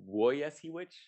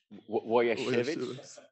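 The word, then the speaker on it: Łojasiewicz: So I've been told by a Polish person that it's pronounced Wojasiewicz. Wojasiewicz. Okay, so I was half, like the first syllable was good, but the rest was wrong.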